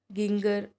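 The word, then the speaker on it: ginger: Species कौन से, paper, गिंगर, या जिंजर बोल सकते हैं, गिंगर भी बोल सकते हैं, आपकी प्रोनाउंसिएशन पे डिपेंड है। लगभग तो जिंजर ही एक परफेक्ट प्रोनाउंसिएशन है।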